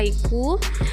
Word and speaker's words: haiku: Yang pertama adalah haiku, jadi cara bacanya adalah haiku, free verse, epic, ballad, sonnet, elegy, epitaph, limerick, and villanella.